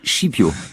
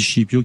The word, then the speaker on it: Scipio: Scipio, votre nom, ça s'écrit S-C-I-P-I-O, donc j'imagine que ça dit Scipio, hein? C'est ça? C'est pas Scipio, oui, c'est Scipio. Normalement, il faudrait dire Scipio, mais.